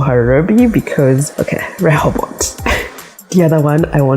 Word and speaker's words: Rehobot: It's Rehobot. You're right. Rehobot. You see that? You don't pronounce the T, I think. We do Rehobot.